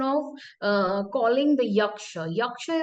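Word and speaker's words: yaksha: uh calling the yaka yaka is actually a Sanskrit term and with different dialects and with different languages the pronunciations changes but the connotation and the meaning always remains same for instance in um in the Buddhist text it is called yakka and again the Jan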